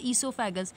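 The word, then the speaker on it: oesophagus: Pronunciation is ईसोफेगस, another name इसका दूसरा नाम होता है फूड पाइप, फूड पाइप भी बोलते हैं इसको, राइट।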